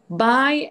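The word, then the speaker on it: bye: which one is which first one b-y-e right that's it because they all sound the same okay good all right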